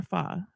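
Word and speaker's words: pho: She has a new Vietnamese fusion menu and she's uh making is it faux or fa? Faux faux f I believe it's actually isn't it pronounced fa fa fa.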